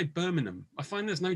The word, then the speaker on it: Birmingham: i find i say birmingham i find there's no g in the middle is that correct when i say it yeah that's that's the correct way of saying it the g is silent good um so uh